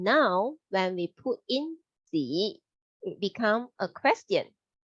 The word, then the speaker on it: 几: In Chinese, we say as 几. That sounds like G, but a little bit harder at the end.